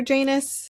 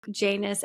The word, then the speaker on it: Janus: Some people say Janus, some people say Janus, and some people say Janus or Janus. Oh. So I might switch back and forth, but I put in my notes that it rhymes with anus.